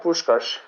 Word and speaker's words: Puskás: Is it Puskás? Yeah, Puskás.